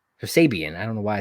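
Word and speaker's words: Kip Sabian: here at the bottom uh miro and kip sabin sabian i don't know why i said his name wrong versus orange cassidy and chuck taylor thoughts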